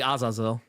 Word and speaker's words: Azazel: comments for not saying Azazel that's as far as I know uh they can say as Azle but it's technically azazo I mean people kill